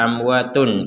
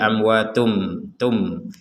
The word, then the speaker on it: amwatum: Kemudian diganti dengan mim, artinya kita jangan lagi membaca amwatun ketika bertemu dengan huruf ba, sehingga bacanya adalah dibalik nanti, yang awalnya amwatun kemudian menjadi amwatum, amwatum bal.